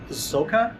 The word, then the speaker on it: Soca: just really loud because again uh as Cory indicated they're blasting music and it's the local uh Soca music I believe it's pronounced and they're very proud of it and they play it very loud all over the island.